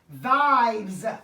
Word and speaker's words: Vibez: We have Vibez. I'm going to pronounce that Z on the end.